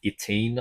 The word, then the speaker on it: YTNE: in that order of Itine, I think is what you pronounce it, YTNE.